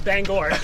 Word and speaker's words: Bangor: championship my junior year do you pronounce it banger uh bangor yeah we'll believe that that's